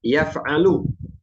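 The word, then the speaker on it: يَفْعَلُ: Kemudian yang kedua ada yang fa'ala yaf'alu, ainnya fathah.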